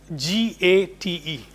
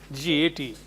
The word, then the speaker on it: gate: Suppose GATE. GATE. Gate. This word actually should be pronounced as gate. Gate. Forget about that NAME. It is name, not name. Gate.